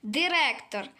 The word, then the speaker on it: директор: Як вимовляється бу слово директор? Через букву е чи через букву и?